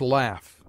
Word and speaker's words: laugh: often at the end the sound of f as laugh whence laughter retains the same sound in the middle cough